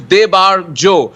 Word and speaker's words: Debarjo: up my name because I think it's because it's a 3-syllable name. Even my family people sometimes say weird things. So I said, भैया एक काम कर लो. My name is Debarjo.